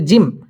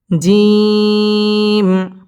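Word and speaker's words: جيم: টান দিয়ে পড়তে হবে অনেকে জিম পড়ার সময় টান দিয়ে পড়ে না বলে জিম এভাবে যদি পড়ে তাহলে পড়াটা শুদ্ধ হবে না তিন আলিফ থেকে চার আলিফ পরিমাণ টান দিয়ে এই হরফটি উচ্চারণ করতে হবে জিম জিম আলিফ বা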